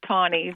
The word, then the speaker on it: Taney: Charles, and it's pronounced Tawney.